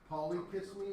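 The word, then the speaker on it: Polychisme: that ended like that you pronounce it kiss me and those mosquitoes are named poly kiss me Molly kiss me Sandra kiss me um because they're all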